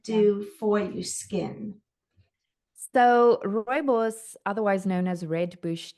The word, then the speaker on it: Rooibos: Rooibos. Robos, Yes. Robos. Tell us about that because it's a key ingredient in your skincare. So what does it do for your skin? So, rooibos, otherwise known as red bush tea, is actually